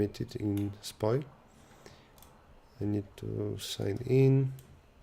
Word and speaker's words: SPOJ: I finally know how to pronounce SPOI. Yeah, so SPOI is a website that that was created by someone from Poland, and in Poland you say SPOI, just like in English there would be a Y at the end.